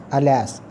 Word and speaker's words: alas: This is phonetic shift, alas. This is second syllable stress, alas.